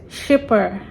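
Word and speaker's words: Schipper: So this is By the Lake by Skipper. Okay, so I had to look for a video of how they pronounced it properly. Shipper, paint by numbers. I think that was she said, shipper.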